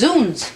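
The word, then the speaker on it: zounds: withdraw my objection what's Z me it's pronounced zons it means God's wounds a medieval exclamation killing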